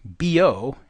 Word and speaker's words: Biot: doesn't notice too that the proper pronunciation is Bo and Savar the bo of our